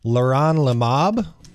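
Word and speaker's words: leronlimab: a drug and I'm probably gonna Massacre the pronunciation of this Leron Lomov is that right you said it right yeah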